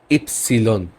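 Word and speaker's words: Ypsilon: নেই দেন আছে ওয়াই ওয়াই কে আমরা বলব ইপসিলন ওকে ইপসিলন এটা ওয়াই না এটা ইপসিলন এখানে একটা এক্সাম্পল আছে এই ইংলিশের মত উচ্চারণ করবেন ইয়োগা কিন্তু এটাকে বলবেন ইপসিলন এটা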